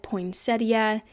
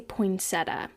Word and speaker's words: poinsettia: how to say it I have always said poinsettia and I know that some people say poinsetta which I think is wrong but you are welcome